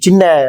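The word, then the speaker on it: ث: கவனிக்க வேண்டும் அடுத்ததாக பாருங்கள் சா நாக்கின் நொனியை மேல் வைத்து சா என்று உச்சரிக்க வேண்டும் சாவும் அதே தா மாதிரிதான்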